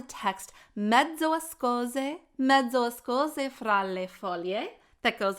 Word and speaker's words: foglie: The next one has to do with the words voglie and foglie. Again, be careful not to add an extra vowel in there, volie and folie, but rather there's this beautiful glide, voglie, foglie.